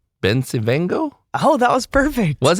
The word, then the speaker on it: Bencivengo: It's like Bencivengo, right? Oh, yeah, So, that's a good way to tell somebody, yeah, Vincent Van Gogh, just make it rhyme with that.